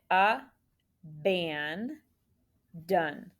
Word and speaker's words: abandon: it then scoop it a ban done remember a is an open syllable exception with a schwa symbol ban is closed with a brief over that short vowel a and done is also closed but that o is really an unexpected schwa so on page 57